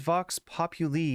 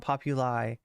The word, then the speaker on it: Vox Populi: It is Vox Populi, not Populi. Me and my Latin pronunciation, okay?